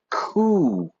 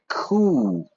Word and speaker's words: coup: English we don't say we don't pronounce the P we do the French style until then treyer won't